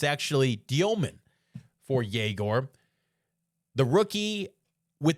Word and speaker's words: Dёmin: No, not Jagor Demen. Jaor Dyman. That's what he goes by in the NBA. That's his official pronunciation of his last name.